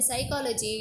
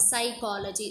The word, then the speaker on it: psychology: Okay, even though you write P here, but P is the silent letter.